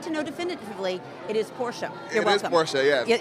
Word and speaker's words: Porsche: do know for a fact that it is pronounced Porsche because I did the driving experience and I verified because everybody calls it a Porsche I said I need to know definitively it is Porsche you're welome is Porsche yeah and I I